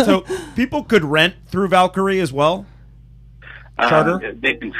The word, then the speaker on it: Valkyrie: What is the connection, I guess I should ask, to, is it pronounced Valkyrie Yachts? Valkyrie Yachts, it's actually Valkyrie Yacht Sales.